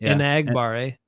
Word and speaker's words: Enagbare: their names differently than the way everyone's been pronouncing them? A couple of the guys on defense. Enagbare, yeah. Enagbare. He said Enagbare.